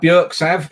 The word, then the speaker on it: Björksav: as well um so bjorks have burks have as mickey uh probably more correctly pronounced um earlier um that